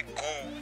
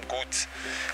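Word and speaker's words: goût: دوباره شماره 6 میگه سه دو موه گو. گو بچه یعنی چی؟ یعنی سلیقه. بونگو سلیقه خوب، موه گو سلیقه بد. بعضی وقتا اشتباه ما تلفظ میکنیم، میگیم گوت که اشتباه است.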